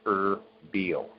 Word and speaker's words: Erbil: In fact, it's spelled Arbil, but anybody that knows anybody from that region, it's pronounced Erbil. He's left Erbil and he's gone to Washington.